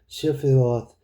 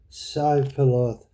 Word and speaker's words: Shibboleth: If he said, "Nay," then said then said they unto him, "Say now Shibboleth." And he said, "Sibboleth," and for he could not frame to pronounce it right.